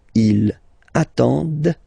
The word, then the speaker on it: attendent: at the plural form, ENT, but then you don't pronounce them. Ils attendent, okay, so remember you get to pronounce this, the D at the end, okay.